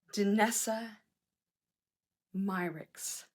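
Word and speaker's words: Danessa Myricks: part okay this is by her name is pronounced danessa myrix okay and what it's called is multi-chrome pigment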